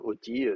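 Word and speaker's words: אותי: bah, c'est facile, Oti, on sait que c'est Oti et pas Iti.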